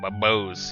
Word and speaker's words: Bose: So let's call it Bose. Or Boss. Oh, Bose, yeah, because, you know, Rose, right? Spelled with an R. So a B, it would be Bose. That's how it should be pronounced.